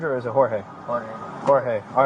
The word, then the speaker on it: Jorge: that's not that uncommon I have seen other people use the English pronunciation of Jorge so it's just a